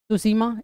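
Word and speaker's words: Tsushima: हैं सुसीमा जल संधि सुसीमा स्ट्रेट टी से होगा टी साइलेंट होता है इसमें तो सुसीमा स्ट्रेट किसको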